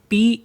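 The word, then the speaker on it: pain: N word देखते हैं पी ए आई एन तो इसको भी पढ़ेंगे हम पा है ना तो यानी कि ए साइलेंट रहता है इसमें तो बचा क्या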